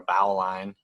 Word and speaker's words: bowline: so here's a bowline it's spelled just like a bowline so if you've ever seen that in writing and wondered what a bowline is or a bow line it's a bowline so this is what